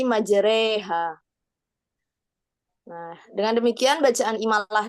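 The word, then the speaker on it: مجراها: Contoh bacaan imalah yaitu pada lafadz majroha itu di surat Hud ayat 14 kalau nggak salah. Itu membacanya jadi majreha.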